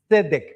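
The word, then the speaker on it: צדק: La justicia, la palabra que se traduce como justicia es tzedek. Es un poquito difícil de decir porque hay como una T por ahí.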